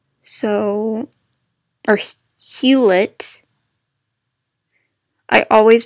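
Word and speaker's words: Hewlett: I thought it was huet Packard I always pronounced it hula I always pronounced it hula instead of huid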